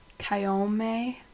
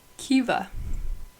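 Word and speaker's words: Caoimhe: Kyome is what I would say. Kiva. There's no V in that, guys.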